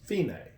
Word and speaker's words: fine: DC all fina and it looks like the word fine right if I but that's the it's actually an Italian word for finish it's pronounced female that's the female the